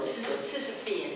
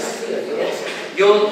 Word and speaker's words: Sisyphean: is, correct me, I don't know how you pronounce it in English, Sisyphus labor work. Sisyphean. Sisyphean. I've never said it out loud myself either. Sisyphean. Yeah, it's Sisyphean.